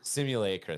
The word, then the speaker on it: simulacra: Simulacra, thank Is you.